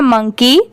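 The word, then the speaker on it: monkey: ये है मंकी एम ओ एन के इ वाई मंकी। अब जैसे देखिए एम ओ एन मन के इ वाई की दोनों मिला देंगे तो मंकी।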